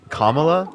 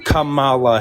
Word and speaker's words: Kamala: When's the last time that you voted for Kamala Harris? There you go. You can do it.